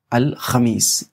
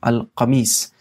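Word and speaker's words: الخميس: जुमेरात को कहते हैं अल खमीस ये खा है पर खा की जगह अगर आप कफ के साथ प्रोनाउंस करेंगे अल कमीस तो वो हो जाएगा शर्ट मतलब अल कमीस शर्ट को कहते हैं अल खमीस जुमेरात को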